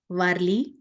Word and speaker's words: Warli: The art is named after the tribe called Warli. It's spelled as W-A-R-L-I.